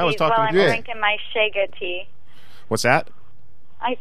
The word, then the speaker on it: Chaga: Shega. Shega, how do you spell that?